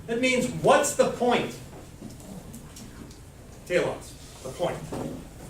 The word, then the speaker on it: telos: Telos, the point. It could be pronounced differently, but nobody speaks ancient Greek anymore, so I'm telling you it's pronounced telos.